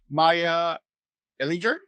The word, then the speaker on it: Maija Ehlinger: Today, I have the great pleasure to have Maija Ehlinger. You got it right? Oh my God, so bad at pronunciation, but very happy to have you here, editor in chief of Hypepotamus.